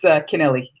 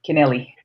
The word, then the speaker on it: Kennelly: pronounced your name right it's Kennelly Nelly Nelly connealy Nelly am I still not pronouncing it right like hey Nelly kennelly hey Nelly kennelly okay